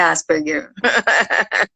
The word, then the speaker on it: Asperger: é, é, só que eu falo Asperger, nem sempre eu falo certo, mas é Asperger.